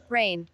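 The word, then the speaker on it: reign: রেইনের মধ্যে জি এর উচ্চারণ হয় না।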